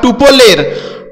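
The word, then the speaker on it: tuple: Join list বা টুপলের item গুলোকে জোড়া দিয়ে একটি স্ট্রিং তৈরি করে। পার্টিশন একটি স্ট্রিংকে সেপারেটর বরাবর তিন ভাগে ভাগ করে টুপল রিটার্ন করে। টুপল বা টাপল টুপলটাই সঠিক উচ্চারণ হবে।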